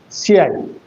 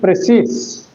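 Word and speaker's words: précis: It is actually a French term, and the spelling is Precis, but the pronunciation is Precis. That is Precis, not Precis. And you know that in almost all French words, the last letter must be inarticulate or unaccented.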